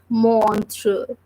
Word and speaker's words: montre: Last E is silent. So we are just reading this word like montre.